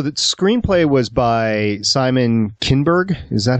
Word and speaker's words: Kinberg: So the screenplay was by Simon Kinberg? Is that how you say it? Simon Kinberg, yes.